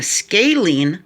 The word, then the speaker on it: scalene: an isosceles triangle has two equal sides but it has also two equal angles and a scalene triangle that's how it's pronounced sk scalene has no equal sides no